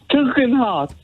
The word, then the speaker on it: Tugendhat: Say Tug. Tug. Heart. Yeah, but how could Lindsay say that? Tugendhat.